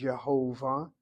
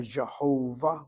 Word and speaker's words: Jehovah: The yu vave they're pronounced by Christians as Yhovah as they read the vows. So Yhovah or Jehovah would be anglicized Christianity.